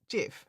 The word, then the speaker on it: GIF: So we have aluminium and that that's why we um that's why we do so it's pronounced jif. Yeah. Mhm. I would also pronounce that GIF.